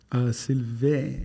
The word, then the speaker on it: Sylvain: I pronounced it right. Sylvain.